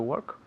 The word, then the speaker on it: work: Work, la pronunciación. Work. Hay una O ahí, pero se pronuncia como si fuera una E.